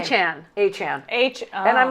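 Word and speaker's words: Achane: Achan.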